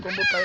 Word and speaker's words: Kombo Kaya: Je sais qu'à la prononciation ivoirienne c'est une mauvaise prononciation, c'est Kombo Kaya Yannick Hector.